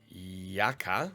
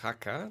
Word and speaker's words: Jaca: Now the siege of Jaca, or Jaca, depending on how we want to pronounce it, in the mountains,